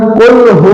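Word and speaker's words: قل: কুফু আল্লাহু আহাদ না কুফু আল্লাহ বরং কুল হু আল্লাহু আহাদ কফ লাম কফ উচ্চারণ করতে হবে কুল কুল কুল এরপরে হা ওয়াও কুল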